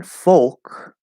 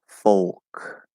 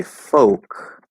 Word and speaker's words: folk: fork okay fork um and then folk is an l colored o instead of an r colored o folk so now a lot of people will say folk without the l color and they'll just use